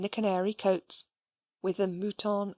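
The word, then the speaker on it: mouton: Muton oave added the butler gravely pronounced if you please muton ai and the soup is potage de muton alcoayes.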